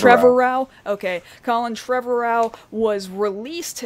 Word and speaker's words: Trevorrow: 9, as Colin, what is his last name pronounced? Trevorrow?